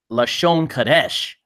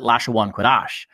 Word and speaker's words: Lashon Kodesh: Their dialect comes from the fact that Lashon Kodesh means holy tongue. But since one Westers, this is the certain type of Hebrews who uses this, they pronounce it Lashawan Kodash.